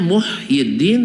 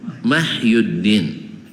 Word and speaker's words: Muhyiddin: Harusnya Muhyiddin tapi dibaca Mahyuddin.